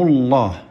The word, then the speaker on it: الله: مثل الآن، مثل قل هو الله، هو الله سبق لفظ الجلالة بحرف مفتوح أو حرف مضموم، فزادهم الله، نصر الله، إذا سبق بمفتوح أو مضموم تفخم تقول الله، إذا سبق بمكسور بسم الله، قل الله، من دون الله تقول الله، كذا تنطقها بالترقيق.